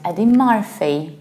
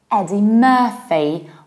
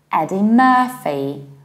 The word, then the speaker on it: Eddie Murphy: It's not Eddie Murphy, as it's mispronounced in Poland. It's Eddie Murphy, also because of this middle UR. Eddie Murphy, like Tina Turner.